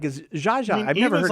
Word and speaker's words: Zsa Zsa: It doesn't even seem like you're trying to pronounce her name right. It's Zsa Zsa.